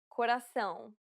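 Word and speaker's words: coração: to pronounce correctly um it is similar to the ow sound in English but with nasality saying the word pound repeatedly May sometimes help with pronouncing this sound but again the best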